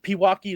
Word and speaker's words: Pewaukee: So start out as a 0-star out of is it Pewaukee? Is that how you say it? Yes, Pewaukee, sir. Wisconsin. Pewaukee.